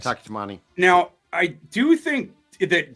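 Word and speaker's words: Taki Taimani: The last name pronunciation. Yeah. I think that's right. Yeah. Close enough. That's correct. Taki Tamani.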